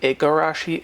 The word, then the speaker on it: Igarashi: It can be spelled with a K or a G, Igarashi, Ikarashi. There's no really right or wrong way to spell it. The different spelling comes from phonetic differences around Japan and how you might pronounce the original name.